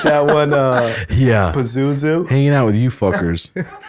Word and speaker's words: Pazuzu: Pazuzu.